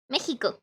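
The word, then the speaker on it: México: it so so yeah we mexicans have a little bit of weird pronunciation with the ex i told you about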